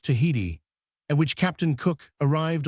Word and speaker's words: Tahiti: One of the most interesting of the larger islands of the Pacific is Artate, now spelt and pronounced Tahiti, and which Captain Cook arrived on the 4th of APA.